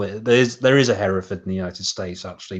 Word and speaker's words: Hereford: Yeah, he can't pronounce Hereford. He pronounces it Heresford, which everyone likes. Welcome to Heresford. Yeah, exactly. No one says Hereford. It's Hereford.